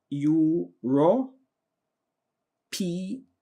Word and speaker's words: europaeus: It's called ULEX, ULEX, and Euro, PAEUS, ULEX europaeus. All right, that's how we normally pronounce it, but if you have a different pronunciation, please use it.